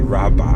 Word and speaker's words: Rawa: a Polish festival called Rawa, Rawa Blues, and the gig was the 2010 incarnation because we did it twice. 2010 Rawa, that's how it's spelled, but it's really Rabba Blues.